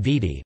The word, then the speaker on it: Viti: They called their home Vidi, but the Tongans called it Fiji, and it was by this foreign pronunciation, Fiji, first promulgated by Captain James Cook, that these islands are now known.